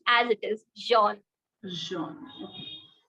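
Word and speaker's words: jaune: pronounced as it is Jean joh okay we don't pronounce the S letter at end and also for the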